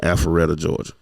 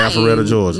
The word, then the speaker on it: Alpharetta: Huntsville, Mesquite, Texas, right outside of Dallas, and Alpharetta, Georgia.